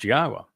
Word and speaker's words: Yahowah: to tell you that Yahwa's name is pronounced Yahwa and explained exactly why and proved it.